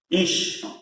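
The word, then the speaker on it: איש: A letra Aleph, o I. Esses dois aqui compõem o I. Ish. E a letra Shin no final.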